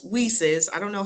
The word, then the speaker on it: WiCyS: and as I stated it's pronounced as whises I don't know how